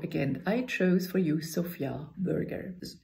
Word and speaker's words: Sofia: I chose for you Sofia Vergara's you can pronounce his name Sofia then you have a girl's name or you pronounce it Sofia then you have the capital of Bulgaria and in this burger you